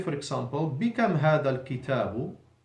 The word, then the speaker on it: الكتاب: الكتاب, first letter is همزة الوصل, not pronounced, so now the second letter has actually become now the first letter, and the lam has a sukun, الكتاب.